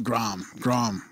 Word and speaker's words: Graham: of Europeans, Eastern Europeans, they're all Grom. They would say it like Grom. Our Middle Eastern people say it that way as well. Grom? Yeah. So where's the H in that?